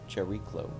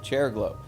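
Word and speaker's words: Chariklo: sh what is it how do you pronounce that cherlo cherico ch ch the chair and the the chair glow okay chair glow this is the only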